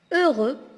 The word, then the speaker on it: heureux: Heureux, on ne prononce pas le H et on ne prononce pas aussi le X.